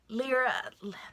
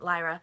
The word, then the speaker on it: Lyra: world of Little Miss lira lira I pronounced it Lyra Lyra Mira Lupin for the